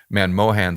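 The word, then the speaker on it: Manmohan: that monom man uh man Mohan I always mispronounce the name man Mohan sing talks about right and if you've got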